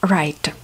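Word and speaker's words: write: на концерт не читается right to right это писать ребятки w в начале слова не читается только пишем читаем со второй буковки райта кайт кайт это воздушный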